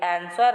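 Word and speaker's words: answer: आगे बोला गया है कि जो आंसर है उसमें कौन सा शब्द साइलेंट रहता है। तो इसको हम लोग आंसर बोलते हैं ना, आंसर। तो इसमें W का जो शब्द है वो साइलेंट रहता है।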